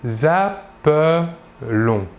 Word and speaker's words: appelons: Par contre, nous dirons avec un seul L, « nous nous appelons ».